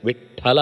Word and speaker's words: ವಿಟ್ಠಲ: ಬೊಟ್ಟಿಡುವುದು ಬಹಳ ಇಷ್ಟ ಕೆಲವರಿಗೆ ಆದರೆ ಇಲ್ಲಿ ಶಾಸ್ತ್ರೀಯವಾಗಿ ಆ ಹೆಸರಿರುವುದು ಅಲ್ಪಪ್ರಾಣ ಟಕಾರಕ್ಕೆ ಮಹಾಪ್ರಾಣ ಠಕಾರದ ಉಚ್ಚಾರಣೆ ಅನ್ನೋದು ಅತ್ಯಂತ ಸರಿ ಮತ್ತು ಸ್ಪಷ್ಟ ಯಾರೇ ಆದರೂ ಉಚ್ಚಾರಣೆ ಮಾಡುವುದನ್ನು ಸರಿಯಾಗಿ ಗಮನಿಸಿದರೆ ವಿಠ್ಠಲ ಅಂತ ಹೇಳುವಾಗ ಮೊದಲ ಅಕ್ಷರ ಅದು ಮಹಾಪ್ರಾಣ ಆಗಿರುವುದೇ ಇಲ್ಲ ಇದು ಅಂತಲ್ಲ ಉದ್ಧವ ನೀವು